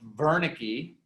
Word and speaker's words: Wernicke: boca you're speaking well german guy is pronounced wernicke right but spelled with the w wernicke's area is in